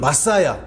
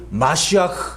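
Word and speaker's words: מָשִׁיחַ: 메시가 아니라 메시아 아시죠 영어로는 마사야 히브리어로는 발음이 마시아 이런 이건 뜻이 뭐예요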